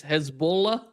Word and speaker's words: Hezbollah: The pronunciation is Hezbollah, which means the Hez means the party, and the second word is Allah, means the Hezb, the party of God.